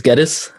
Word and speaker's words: Guedis: My name is Geddes. It rhymes with lettuce.